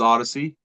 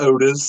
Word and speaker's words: ODYZ: Um, I know a lot of people are having trouble pronouncing it, but it is Odyssey. Uh, it's not Otis.